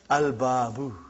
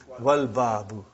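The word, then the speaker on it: الباب: I did pronounce Lam. But if the next letter is Ba. And it is written here, Al-Babu. Are you with me? Put Waw in front, you will say Wal-Babu.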